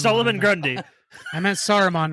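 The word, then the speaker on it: Saruman: Solomon oh sorry s Solomon Grundy I meant soromon not Solomon yeah what's so complicated about that Aragorn legal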